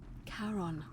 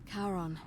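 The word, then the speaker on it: Charon: it's just as you described it only your pronunciation is a little off the name you heard wasn't it was c-h-a-r-o-n as in caron the ferryman of the dead karon who in exchange for the right coin helps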